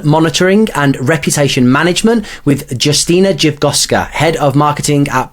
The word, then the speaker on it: Justyna: background in marketing okay so my name is Justina you pronounced it perfectly I'm so impressed so yeah